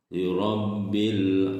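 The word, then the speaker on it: لِرَبِّ: Lirabbil alamin. Liro, nah, ro harokat fathah, tafhim ya harus tebal.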